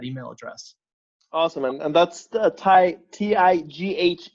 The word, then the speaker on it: Tighe: me at that email address awesome and that's ty TI GH e descry pronounced hi Rick type so thank you Rick